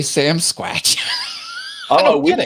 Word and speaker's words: Sasquatch: what's the deal like what's the correct pronunciation well according to everything all those tv shows and everything we watch at sasquatch that's what they call it but why do why do canadians say sam squatch out here in florida we